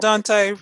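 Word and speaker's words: Daunte: Deontay. Dante, right?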